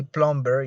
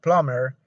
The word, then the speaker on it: plumber: latest in this case the last letter b is silent remember that in these words any words such as plumber you don't say plumber you say plumber you don't say doubt but you say doubt